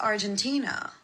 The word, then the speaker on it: Argentina: oh, by the way, I wanted to tell you, it's not pronounced Algeria, it's pronounced Argentina.